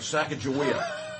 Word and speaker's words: Sacagawea: I would like to because- make a But- motion that we in Franklin County, from this point forward, forevermore, call it Sacagawea.